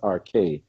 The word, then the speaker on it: arche: You mentioned the arc, and the actual pronunciation is arche.